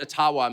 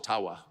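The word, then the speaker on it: Ottawa: Nations leader who said actually it's it's called aawa and uh they've been for mispronouncing it all these years that I'm not making that up and if you have any Ajo friends ask them yeah it's aawa so uh your creepy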